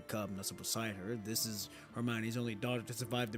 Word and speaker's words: Hermione: How about Hermon? Hermon? Is it Hermon? I think that's how you say it. Hold on. We got to We're going to We're going to look. Hermione. Hermione. Hermione. Interesting.